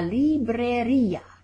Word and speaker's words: librería: La librería. La librería. And we see the little accent over that I at the end, like cafeteria, that makes us pronounce it at the end.